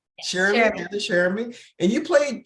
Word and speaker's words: Cheramy: Cheramy, Hannah Cheramy.